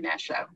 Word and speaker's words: Nyasha: Over to you, Nasha. Awesome. Good afternoon, good morning, and good evening, everyone. And thank you so much, Bandana, for the great introduction. And you did pronounce my name very correctly.